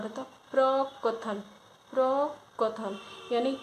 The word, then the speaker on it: प्रकथन: फिर 185 में प्रकथन पूछा है, तो जो इसका शुद्ध उच्चारण होता प्रकथन, प्रकथन, यानी का जो है का जो है